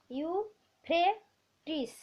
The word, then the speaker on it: ইউফ্রেটিস: ইউফ্রেটিস, হয় রফলাটা ফ্রে উচ্চারণ করবে, ইউফ্রেটিস ও টাইগ্রিস নদীর ধারে।